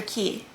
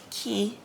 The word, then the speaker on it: Cay: Yesterday, Treasure Cay, excuse me. They spell it like K, but they say it like key.